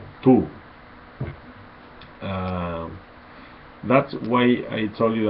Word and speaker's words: tú: It's not two, it's tú. We pronounce tú in Spanish, and with the, remember the tilde, and but it's not necessary.